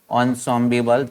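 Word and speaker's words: ensemble: एनसेम्बल, एनसेम्बल का मतलब होता है थिंग्स हियर, इंस्ट्रूमेंट को, कोई एक बजाने का इंस्ट्रूमेंट है, प्रोनाउंस्ड किया जाता है इसको ऑनसॉम्बिबल, थिंग्स हियर इंस्ट्रूमेंट, कोई मतलब एक साथ बजाते हैं।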